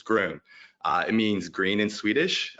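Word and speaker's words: Grön: Just want to point out real quick, Groon is spelled G-R-O-N with a umlaut over the O. I like to think of that as 2 extra O's up there, and it gives you that oo sound, so it's Groon.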